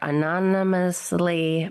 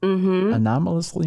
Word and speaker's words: anomalously: Not anomalously. It's an No, see, you got me confused. It's anomalously massive, right? No, you said Oh, I added another Yeah, you added syllable, didn't I?